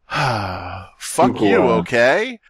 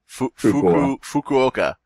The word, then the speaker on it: Fukuoka: series this time to the funky okay die a Hawks is that how you pronounce it you okay Fukuoka so the curse is